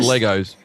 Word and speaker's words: Lagos: She's here for four nights and it's pronounced Legos.